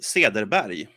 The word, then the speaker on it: Cederberg: what what the difference if I'm talking Swedish it would be actually be another pronunciation of it which is what now I'm very curious yeah because then it would be see at their body all right then I